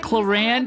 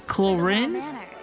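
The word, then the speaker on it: Clorinde: to today as well forget cland it's chorin chorin see I can pronounce it dude trust me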